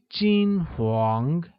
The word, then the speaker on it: 金黄: Golden or blonde translates as 金黄, which is pronounced with a high level tone on I and a mid-rising tone on A, like 金黄.